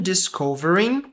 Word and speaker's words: discovering: Imagine discovering. Imagina descobrir. Imagine. Imagine é a pronúncia desse pedaço aqui. Imagine discovering. Um U aqui. Discovering. E não lemos esse G.